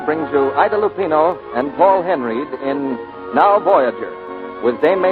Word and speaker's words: Paul Henreid: He pronounces his name Paul Henry.